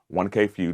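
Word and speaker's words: 1K Phew: This is the first one, though, that you have collaborated with another artist, 1K Few.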